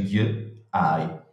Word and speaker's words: Ghiai: Ghiai è scritto con la I lunga, G, I, in friulano si legge Ghiai.